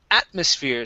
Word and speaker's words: atmosphere: Our next one is atmosphere. So our stress is at the very beginning here.